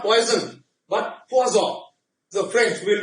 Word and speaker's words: Poisson: So even though many people call it poison, but it's Poisson.